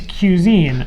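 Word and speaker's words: Qsine: then we went to cuisine and the name of this you say i want to just make sure people know it's spelled q s-i-n-e so already pretentious right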